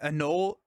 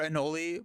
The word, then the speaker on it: Anole: My reveal video were these allies, and I had people say that though I saying that Anole or Anoli, both of them were correct. I had people saying both pronunciations were correct, and so I'm just lost at this point.